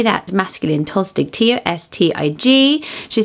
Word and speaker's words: Tostig: Tostig. How do you say that? Masculine Tostig.